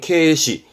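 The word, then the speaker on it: 軽視: 경시하는 발음은 케시, 경솔입니다.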